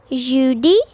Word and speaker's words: jeudi: Thursday is jeudi.